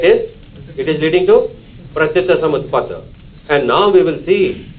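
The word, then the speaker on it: Pratityasamutpada: Pratitsamutpada. Pratitsamutpada. What philosophy? Don't hesitate in saying.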